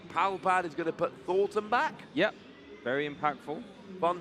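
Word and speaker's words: Thorton: Palpad is going to put Thornton back. Yep, very impactful. Fun fact, only one N in Thornton. Yep. Commonly mispronounced supporter card.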